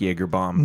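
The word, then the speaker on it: Yeager Baum: And sure enough, because they spell it with a Y, not a J, and it was Dave Yeager and Mrs. Baum. Yep. And They combined their names, and spelled Baum, right? So it doesn't. It's not spelled like the drink Jaeger bomb, but Sure. it's Jaeger bomb.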